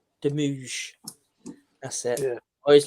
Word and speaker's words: Demouge: Frank, how do you pronounce it, Chris? Correctly? Demouge. Demouge.